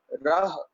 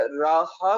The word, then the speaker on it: राह: अच्छा, राहा भी नहीं कहना, राहा भी अगर कह देंगे तब भी वो गलत हो जाएगा, क्योंकि हाय के साथ फिर कना लग जाएगी। इसलिए हमें उच्चारणता जब करनी है, कोशिश करनी है हाय के साथ मुक्ता लगा के उच्चारण करना है, राह।